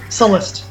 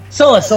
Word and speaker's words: Sullust: Sullust, yes. Sullust, yes, Sullust.